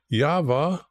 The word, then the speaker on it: Yahweh: And when you understand that the way the Hebrews pronounce it is Yahweh, so the thing here is why not just use YH?